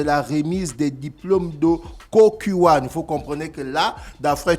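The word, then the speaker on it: Kukkiwon: qui me dit toujoursv on dit pas le cokuyon mais on dit le cokuan donc la cérémonie va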